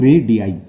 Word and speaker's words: radii: है रेडियाई की spelling, रेडियस का प्लूरल होता है रेडियाई, इसे बोलते हैं हम रेडियाई।